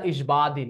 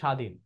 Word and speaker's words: স্বাধীন: স্বাধীন, এখানে বফলা হবে না, কারণ এমন হবে না ইসবাদিন উচ্চারণ, এরকম উচ্চারণ হবে স্বাধীন।